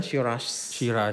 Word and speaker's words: Shiraz: Mereka bilang itu Shirah. Ya kan. Kalau untuk di Australia dia bilang Shiraz.